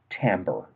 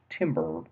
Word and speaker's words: timbre: for now and that's timbre now realize it looks like it's might be pronounced timber but that refers to lumber so that's not this term at all timbre refers to the